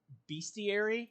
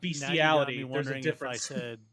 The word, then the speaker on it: bestiary: continue on the game make sure you're pronouncing it bestiary because if you're not careful and say something else or Google it weird shit's gonna come up so it's Beastie not bestiality the wrong one no you